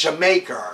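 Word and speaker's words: D'yer Mak'er: killer next song jamaica i think i'm pronouncing it right it's it's spelled dire maker but it's jamaica or something like that and here's where bottom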